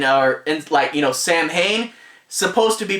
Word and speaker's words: Samhain: It's a cool crossover, and plus they actually pronounce Samhain, or Sam Hain, supposed to be pronounced Samhain.